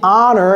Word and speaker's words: honor: Quand vous dites honor, est-ce que vous prononcez le H? Ce n'est pas un honor.